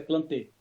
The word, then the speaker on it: Plantae: As plantas constituem o reino Plantae, ou reino de plantas, o qual subdividido... Só. Reino plantê. A pronúncia é plantê.